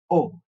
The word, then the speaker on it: au: for PR we use o which is au is pronounced as O So by examp mean